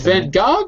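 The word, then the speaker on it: Van Gogh: Vanog. Is it Van Go or Van Go? Van Go. Vanog. It in it's in America for some reason we use a French pronunciation.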